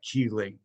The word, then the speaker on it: chelating: a good word ready it's a chelating agent you pronounce that key late or at least i've always been told um so here's what